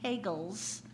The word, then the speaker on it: Pagels: book we're reading is Elaine pagels which rhymes with Bagels the Gnostic Gospel and